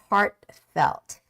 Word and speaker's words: heartfelt: when the t is in the middle just say heartfelt just make a very soft stopping sound heart and then just go on with the next pronunciation which is heartfelt heartfelt heartfelt heartfelt the